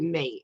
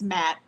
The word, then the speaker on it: matte: do you say that is it matte or is it mate how do you say that it's matte yeah okay yeah she's she's